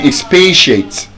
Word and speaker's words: expatiate: So you don't say can you expansiate can you expatate? That's the correct pronunciation.